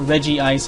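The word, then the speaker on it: Regice: is where you get reg ice or Reggie ice I think is actually how it's supposed to be pronounced even though that doesn't really work because of uh the way they transliterated it into English um are we fully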